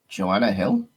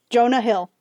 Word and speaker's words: Jonah Hill: Jonah Hill. Joanna Hill? Jonah Hill. Okay. That's how you pronounce his name, Jonah Hill.